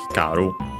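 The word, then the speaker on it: 光る: say the ini to make hikar accent on the last syllable and yeah that's so the uh confirmation of the accent of hikaru.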